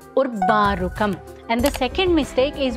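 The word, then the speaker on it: उर्वारुकम्: First mistake is while chanting the first word in the second line, people mispronounce it as urvārukam, which is not even a word in Sanskritam. It is urvārukam.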